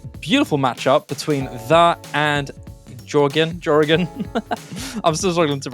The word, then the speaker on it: GEOREGON: Meanwhile, GEOREGON, you did pronounce it correctly.